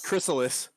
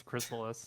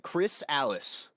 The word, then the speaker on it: Chrysalis: Is that not how you pronounce it? That's like it's Chrysalis. It's Chrysalis. You just said it like it was somebody's name, like Chris Alice, lead singer of Alice in Chains.